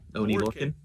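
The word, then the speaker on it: Oney Lorcan: Did I pronounce that right? Yeah, Oni Lorcan.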